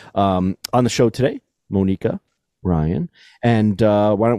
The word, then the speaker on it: Monika: in the recording Academy Monica Ryan did I pronounce it your name correctly I no no I didn't really it's Monica oh Monica that's right okay so Monica